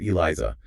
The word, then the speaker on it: ELISA: Using ELISA, pronounced Eliza, enzyme linked imunosbent assay.